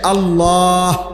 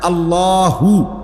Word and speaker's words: আল্লাহ: শেষে আল্লাহ, শেষে একটা গোল হা আছে, ছোট হা। আল্লাহ মানে আল্লাহু, তো হুটারে শ্বাস ফেলাইলে হলো আল্লাহ।